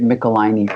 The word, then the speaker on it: Michelinie: where they actually say it rhymes with pickle my knee. So that's where I get Michelinie from.